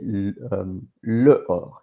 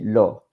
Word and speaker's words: l'or: So with anything, with the le, la, is replaced by L apostrophe because you don't say le or, you say l'or for a better pronunciation.